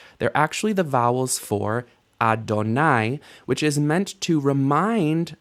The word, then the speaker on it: Adonai: the different possibilities, but the correct readings of this word would be Yahweh or Adonai. Yehovah is not a correct reading. It's a misunderstanding of the pointing of the text.